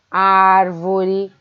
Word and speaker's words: árvore: Aqui, ó, é o A e o R que devia estar grifado, né? Árvore. Dessa forma a gente separa essa palavra. Ar é a sílaba tônica.